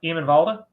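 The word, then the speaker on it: Eamon Valda: Hiem and Valda is probably... Do you say his name like that? Yeah, Hiem and Valda. Well, that's better. Yeah, that's better.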